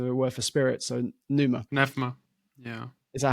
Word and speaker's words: pneuma: So pneuma. Nephma. Yeah. Is that how you pronounce it now? Yeah, Nephma.